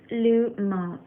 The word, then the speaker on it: Lumos: Lumos, pronounced Lumos, is possibly derived from the Latin word lumen, which simply means light.